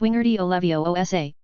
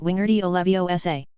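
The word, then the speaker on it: Wingardium Leviosa: It's<unk> wingardy ovioa, not wingerty ovio.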